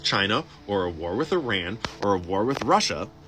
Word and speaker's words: Iran: him Seaman from Iran it's Iran so remember that's how you say it probably the deep deep